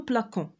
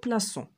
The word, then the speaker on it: plaçons: On ne dit pas nous plaquons, mais on dit nous plaçons.